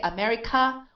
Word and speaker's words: America: We don't say America, but right? Because if we say America, we're stressing the k, but this is an unstressed sound. So it's America.